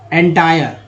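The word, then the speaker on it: entire: तो एंटरटेनमेंट, बराबरी का, इक्वल यानी समान, संपूर्ण, एंटायर, एंटायर आय का उच्चारण आय के रूप में हुआ, समान रूप से, इक्वली, इक्वली।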